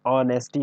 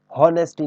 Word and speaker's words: honesty: जो प्रोनाउंसिएशन होता है इसमें H साइलेंट हो जाता है, इसलिए इसको क्या पढ़ते हैं हम? ऑनेस्टी पढ़ते हैं, हॉनेस्टी नहीं पढ़ेंगे इसको।